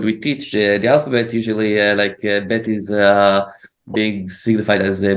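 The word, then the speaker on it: ב: Before Gimel, you can see that you can say bet also like a B and also like a V.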